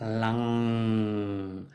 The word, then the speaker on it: lam: So the sound would be lam. Everybody has heard that. Lam, or maybe a bit better pronounced lang. So you put the tongue at the top of the roof in the end, and you don't close the mouth for the M.